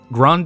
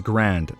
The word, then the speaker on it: Grande: Grande is pronounced as grand. Oh, grand. Oh, sorry. The E is silent.